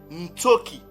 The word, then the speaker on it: Ntsoki: Donc ces mots-là, on vient de trouver la bonne prononciation de ce mot-là en Paléo-Mbala, qui se lit ou qui se lisait Ntsoki.